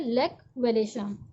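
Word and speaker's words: Lech Wałęsa: Electrician थे shipyard के, लेक वेलेशा, इन्होंने ज्वाइन किया स्ट्राइक को, लेक वेलेशा, इसे हम कैसे प्रोनाउंस करते हैं, लेक वेलेशा।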